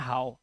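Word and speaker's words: how: पर आप देखो अब इसको आप हो नहीं पढ़ेंगे इसे पढ़ते हैं हाउ इसे नो नहीं पढ़ते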